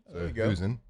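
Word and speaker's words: Husan: of like you said you do pronounce it like Susan Husen Long Street for USC former five-star recruit and three you know that they do percentage ranking.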